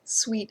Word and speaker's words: Suite: help you ah yes sweet is spelled s UI T we think it's clever